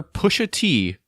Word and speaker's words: Pusha T: know he's a fan of hip-hop so rapper push a tee did I say it right yes okay Pusha